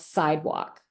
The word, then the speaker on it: CYDWOQ: But my favorite, my favorite brand of shoe is a brand called Sidewalk. And it's not spelled like the sidewalk that you walk on, but so I'm plugging them CYDWOQ.